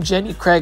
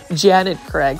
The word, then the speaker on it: Janet Craig: um Janet Craig compacta I kept on saying Jenny Craig like Jenny Craig lose weight but it's actually Janet Craig so I'm so sorry